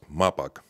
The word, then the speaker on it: Mapag: listenin how do you pronounce correctly may pakmar park and what does it stand for it's correctly it's pronounced Maybach it's a legal entities